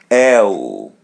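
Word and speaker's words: eu: L L As you see we pronounce letter E as E and letter U as W L L.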